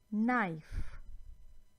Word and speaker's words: knife: Well, K is silent, as in knee, knife.